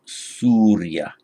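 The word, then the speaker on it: sūrya: of the sun so sun is surya in sanskrit it is surya the long and then the consonant cluster they are followed by the way surya in pale that becomes two short syllables so by the light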